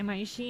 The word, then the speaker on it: Imaishi: How do you pronounce it? Imaishi and Trigger got the rights out of Gainax's corpse.